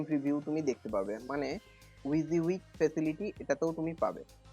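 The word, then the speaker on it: WYSIWYG: এটার প্রোনাউন্সিয়েশনটা হচ্ছে উইক, যার মানে হলো what you সি is what you গেট।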